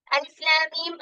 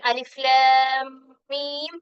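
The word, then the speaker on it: الم: ആ 2 മീമും കൂടെ ചേർത്ത് എന്തായി? അവിടെ ആ മീമിനെ മണിക്കണം. ഷെദ്ദുണ്ടായി. അങ്ങനെ ആ മീമിനെ എന്ത് ചെയ്യണം? മണിക്കണം. അലിഫ് ലാം മീം. അലിഫ് ലാം മീം എന്ന് മാത്രം പറയരുത്. അലിഫ് ലാം മീം ആ മീമിനെ അവിടെ മണിക്കണം.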